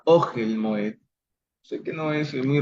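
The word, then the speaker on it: אֹהֶל: Ogel, ven ustedes ahí, Ogel tiene el acento bajo la consonante Aleph. No es Ogel, sino Ogel Moed.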